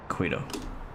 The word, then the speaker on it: Quito: Quito traffic, Avianca 116 is 20 miles to the north inbound, expecting runway 36 left traffic. Quito. Quito. Like taquito.